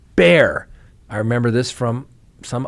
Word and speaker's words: Bexar: things now officials with Bear County and I I say that because it's spelled b-e-x-a-r but it's pronounced bear I remember this from